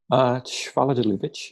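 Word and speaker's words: Schwaller de Lubicz: Schwaller de Lubitsch, yeah.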